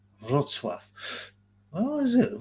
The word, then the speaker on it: Wrocław: It's pronounced Wrocław. Oh, is it? Wrocław.